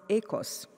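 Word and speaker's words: οἶκος: family Greek Greeks tell me that it is pronounced echoes and this is the root for both economy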